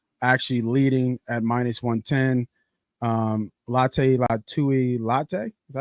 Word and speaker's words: Latu: Latte Latui Latte.